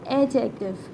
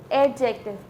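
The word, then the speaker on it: adjective: एडजेक्टिव, बट इट्स नॉट अ एडजेक्टिव, इट्स अ एडजेक्टिव। इसमें D silent होता है।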